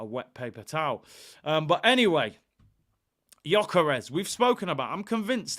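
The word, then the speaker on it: Gyökeres: I was calling him Gyokeres or something crazy like that, but people were telling me in the comments to pronounce it Gyokeres.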